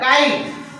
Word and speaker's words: kite: ट, टी का ट, काइट। अब ये बचा दो, देखो वावेल ई साइलेंट हो गया।